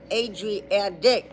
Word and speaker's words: Adriatic: Agadic. Even though it's spelled with a T, they are telling you to pronounce it with a D. Adriadic.